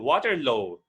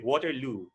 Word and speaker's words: Waterloo: also extracurricular it should be extracurricular activities then water load it should be waterloo then someone said very very very excited so